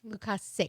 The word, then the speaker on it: Lukasic: Lukasic. Lukasic. Like you're sick.